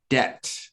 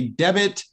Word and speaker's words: debt: important to know is debt notice that the b is silent we don't say debit it's debt so debt refers to